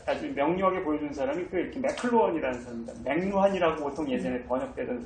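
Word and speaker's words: McLuhan: 명료하게 보여주는 사람이 이렇게 맥클루헌이라는 사람입니다. 맥루한이라고 보통 예전에 번역되던 사람이죠. 이 발음이 맥루한은 좀 진짜 일본 사람들이 한 거라고 보고서 그냥 한 거 아닌가 싶은데 맥클루헌이 아마 맞는 것 같은데 발음이.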